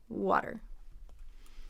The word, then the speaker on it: water: I spilled some water water so let's compare water to some other words so it rhymes with hotter so you see that short oh right ah hot hotter so hot by itself